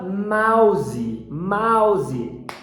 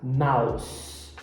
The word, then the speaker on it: mouse: camundongo Ratinho é homófono tem a mesma pronúncia que o oposto de bons no português um ponto de bons